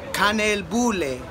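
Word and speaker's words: kanelbulle: espresso house and yes I got a it's pronounced con al Boulet and it's supposed to be very traditional here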